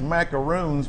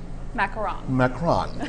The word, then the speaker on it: macaron: These are French macaroons, but we would call them in Texas, but they are pronounced macaron.